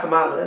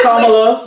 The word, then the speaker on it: Kamala: I don't know why she just don't go by Kamala. It make it more sense. No, her name is Kamala.